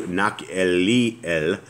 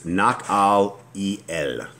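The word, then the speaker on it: Nahaliel: And from Mattanah to Nak'elel, and from Nak'elel, sorry guys, I'm trying to pronounce this right. It's Nak'al-el. Nak'al-el.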